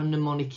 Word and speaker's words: mnemonic: these letter codes mnemonic look how mnemonic is spelt with a silent m and that just means